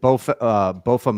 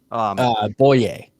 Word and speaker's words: Boye: Is it Bofa Maye? Is that how you pronounce his name? Boye. Boye. Oh, Boye sorry. Mafe. You had the Y.